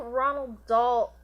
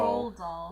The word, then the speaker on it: Roald Dahl: no, I was just gonna say, I don't think Ronald Dahl made... Roald Dahl. Roll doll.